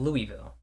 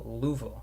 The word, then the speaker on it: Louisville: Louisville. That's how the it's spelled. But people go Louvo.